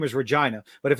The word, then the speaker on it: Regina: Oh, it's not how we pronounce it. Is it? Oh wait. Oh, the city. The city's name is Regina. Regina.